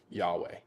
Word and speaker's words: Yahweh: The four letters are yod, hey, wah, and hey. So Yahweh, that's how we that's how we arrive at that pronunciation.